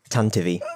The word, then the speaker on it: Tantive: Tantive. Oh. But that's spelt with a Y. For some bizarre reason, he decided to spell it with an E, but still pronounce it the same.